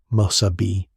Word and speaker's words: Mesabi: Pronunciation sheet, say these exactly. Mesabi, Massabi.